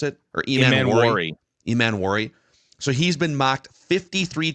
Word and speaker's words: Emmanwori: Is that how you pronounce it? Or Emmanwori? Emmanwori.